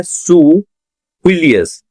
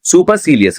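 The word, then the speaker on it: supercilious: अगला वर्ड है सुफिलियस। सुफिलियस, सुफिलियस, पर हम इसे सुपर की तरह पढ़ेंगे। ठीक है ना? सुपरसीलियस हम ऐसे पढ़ेंगे, सुपरसीलियस, बट प्रोनाउंसिएशन क्या है? सुफिलियस।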